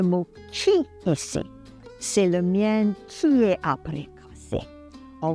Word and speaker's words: mien: Le mien. Il prononce le N final.